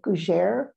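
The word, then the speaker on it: gougère: And then I love, and I can't pronounce it, gougere. You pronounce it very nicely.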